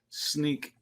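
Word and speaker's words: Snyk: up with it it's uh and it is pronounced sneak yeah according to him sneak uh and you really had me freaked out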